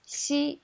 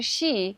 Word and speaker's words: xi: A lot of people think that xi in Chinese Mandarin is similar to English she. Actually, it's not. When you pronounce xi, you can hear she, which means your tongue is too far back.